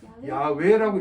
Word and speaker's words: 야훼: 이 때문에 원칙으로 얘기하면은 야훼라고 읽는 게 혹은 야훼라고 읽는 게 정확한 표현입니다.